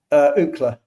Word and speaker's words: Ookla: Ookla. Yeah, that one's better. How do you say that? How do you spell that?